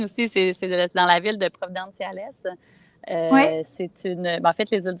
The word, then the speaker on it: Providenciales: Puis tu prononces bien aussi, dans la ville de Providenciales.